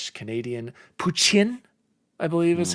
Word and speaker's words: poutine: I got authentic Michigan / Canadian poutine, I believe is how you pronounce it. Poutine. Poutine is what Zenkai Goose said is how you're supposed to pronounce it.